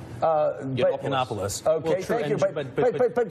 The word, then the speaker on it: Yiannopoulos: There were several others that, Milo, I can't pronounce his last name. Yiannopoulos.